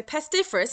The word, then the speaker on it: pestiferous: So pestiferous, if you are struggling to say it, is four syllables. So pest, if, rus. Pestiferous. Okay, it's four syllables.